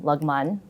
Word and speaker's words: Lagman: But I always tell people like through the union I actually learned that you pronounce my name Lagman, which nobody says.